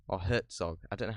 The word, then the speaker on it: Herzog: um going through werner herzog's or hertzog i don't know how you pronounce it verne herzog i don't know how you pronounce it there's no t in it but everyone pronounced it with a t is it hurts